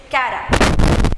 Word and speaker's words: Chara: Adana Chara antanadru heltare, but the exact pronunciation is Cara.